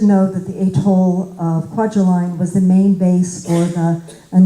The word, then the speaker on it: Kwajalein: on TDYs to Kwajalein, which I guess is pronounced Kwajalein, but he always pronounced it Kwajalein.